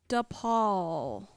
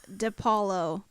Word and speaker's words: DiPaolo: It could be one syllable, but it's two, and it has the No, word. no, Paul. no. Oh, no. It's got an extra syllable up front.